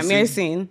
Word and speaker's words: myrcene: Is that how you say it? Myrcene? Yeah, myrcene.